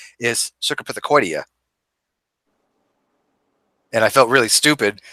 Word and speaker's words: Cercopithecoidea: it up but s actually the the proper pronunciation is cercopithecoidea and I felt really stupid because you know